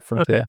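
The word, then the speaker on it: Frontière(s): Or Frontier. However you say that one. Frontier, I think, because but the S is silent. Probably.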